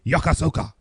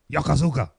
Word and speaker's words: Yokosuka: Did I do Yokosuka? Yokosuka.